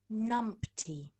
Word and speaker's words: numpty: Numpty. And that is pronounced as numpty.